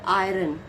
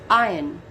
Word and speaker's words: iron: wrong it's ding how it it will be pronounced ding now the third word is iron iron it's not iron it's iron now the 14th word is data it's not